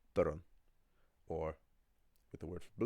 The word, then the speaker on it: dorn: But it's not pronounced durn as you might in English. The cluster or N, right? Because there's an or there, to make the pronunciation easier, you add a little vowel sound, so it's pronounced durn, or with the word for blue, same thing.